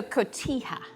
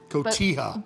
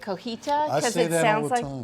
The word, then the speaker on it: Cotija: on the dock so Cotija Cotija but most people mispronounce it and say cojita I know all the